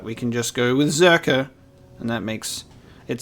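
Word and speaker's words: Czerka: of this okay so it's pronounced zerka and the c is silent the only reason why i was saying circa is because i like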